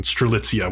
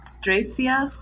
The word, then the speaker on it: Strelitzia: Yeah, I think it's Strelitzia is how they say it.